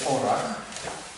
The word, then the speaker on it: ORAC: jest tak zwana skala orac się pisze, czyta się orach, w której są opisane antyoksydanty.